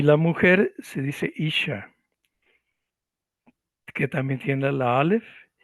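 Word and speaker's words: אִישׁ: Y aquí vemos cómo se escribe la palabra hombre. En hebreo se dice ish.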